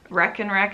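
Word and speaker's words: Rekenrek: Rec-N-Rec is spelled R-E-K, and then the letter N, and then R-E-K, usually.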